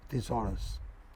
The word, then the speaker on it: thesaurus: You know, there you can check the net for good or bad thesaurus. This is it.